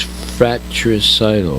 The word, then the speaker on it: fratricidal: And then the next word that is interesting is fratricidal. Fratricidal. Frat. Not fat, but frat. F-R-A-T. Frat. Fratri, R-I-C-I-D-A-L. Fratricidal.